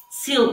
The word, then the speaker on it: sylphs: How do you spell it? The sylphs? S Y L P H S. Sil, or in Portuguese, silfos.